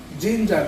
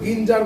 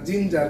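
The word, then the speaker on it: ginger: সেটা হচ্ছে তোমার খুবই সুন্দর জিঞ্জার তাই না জিঞ্জার দেখো জি তে শুরু হচ্ছে কিন্তু আমরা কিন্তু গিঞ্জার বলছি না জিঞ্জার কেন জি এর পরে কিন্তু আই আছে আমি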